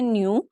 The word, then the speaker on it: neo: NEO को हम क्या प्रोनाउंस करते हैं? न्यू।